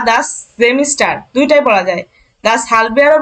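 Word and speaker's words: Semester: বছরকে কি বলে আপু এখানে কি সেমিস্টার নাকি জেমিস্টার হবে এটা যখন আপনি জার্মান উচ্চারণ করবেন তখন জেমিস্টার হবে জেমিস্টার এই যে এ আছে না ভাওয়েল আছে জাস্ট সেমিস্টার আর এই যে কোয়ার্টার আর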